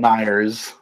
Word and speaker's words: Meijer: Is that how Myers. it's pronounced? Is it Myers? I thought it was Myers. MEIJERS. Yeah, I'm pretty sure it was the J was like silent.